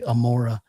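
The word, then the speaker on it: עמורה: So they just say Amora usually for that city name.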